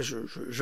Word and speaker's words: Xi: c'est pas grave moi je laisse faire je vais pas perdre mon temps rentrer dans les polémiques parce que là le président chinois qui s'appelle J et que ça s'écrit si XI et bien il a